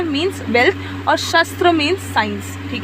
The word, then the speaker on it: शास्त्र: तो यहाँ पे बोला है अर्थ क्या होता है, मीन्स वेल्थ, और शस्त्र मीन्स साइंस, ठीक है, शास्त्र, एक्चुअली शस्त्र नहीं शास्त्र।